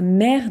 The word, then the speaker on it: maire: Anne Hidalgo, c'est la maire de Paris. Attention, en français, on a la mère et la mère. Donc on a 3 mots qui se prononcent de la même manière, mais qui ne veulent pas dire la même chose.